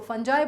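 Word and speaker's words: fungi: कुछ लोग इसको फंगाई बोलते हैं, कुछ लोग इसको फंजाई बोलते हैं। इट अगेन प्रोनाउन है, completely depends on your accent और आप किस तरह के उसमें बोल रहे हैं, वेदर यू आर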